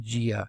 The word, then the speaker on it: JEA: feature it's an add-on called just enough administration or JEA or sometimes pronounced gia so gia is this